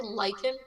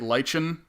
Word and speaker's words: lichen: There's 2 pronunciations. The British say it lichen, and then in North America you say it lichen usually, but it's basically like a moldy, mossy grass thing that grows on cliffs.